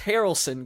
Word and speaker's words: Harrelson: Georgia Harrelson. Harrelson. Yeah. She's not related to Woody Harrelson. It's just Harrelson, guys.